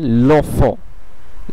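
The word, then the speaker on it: l'œuf: লো ওফ লো ওফ আপনারা নিশ্চয়ই খেয়াল করলেন যে এই লো এর শেষে ও আছে এবং ওফর শুরুতে ও আছে দুটিই ভাওয়েল সেহেতু এই ল এর ওটা কেটে যেয়ে ল এর ওটা কেটে যেয়ে এখানে একটি অ্যাপস্ট্রফি বসে এর উচ্চারণটি এবং লেখার দিক ধরণটিও বদলে যাবে এবং এর উচ্চারণটি একটি শব্দের রূপান্তরিত হয়ে যাবে দুটি শব্দের বদলে এখানে উচ্চারণটি হবে লোফ লোফ লোফ যার অর্থ বাচ্চাটি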